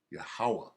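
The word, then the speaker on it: Yahweh: yeah this is jehosha like you say Jehovah right yahawa is how you say it he's the one setting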